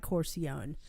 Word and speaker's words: Corcione: not even you but his name is mike corcione and i heard that that's how he pronounces it i thought i'm just going to